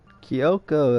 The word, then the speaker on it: Kyoko: Kyoko, that's how you pronounce her name.